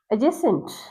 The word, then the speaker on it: adjacent: Remember, A, D, and J. Adjective, adjacent, adjacent.